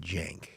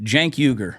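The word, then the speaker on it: Cenk Uygur: His name is pronounced Jank. Jank. See, that's some bullshit. How does he say his last name? Uyghur. Jank Uyghur.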